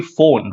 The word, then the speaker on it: phone: it but it's actually phone right there is the f sound the spelling is p the spelling has p but the sound is the f sound right phone so you